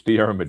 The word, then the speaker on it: Dear: Draymond. Dear, you're very close. It's Dear. It's very hard to pronounce.